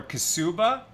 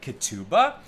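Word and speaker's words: Ketubah: So modern Hebrew is based on Sephardic pronunciation where we would say Katuba.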